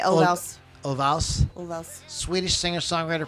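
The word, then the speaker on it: Ulvaeus: say Olvaus.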